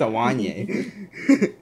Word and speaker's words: Duwanye: weigh 80 Duan yang it's actually pronounced awan yay let's make a Buffy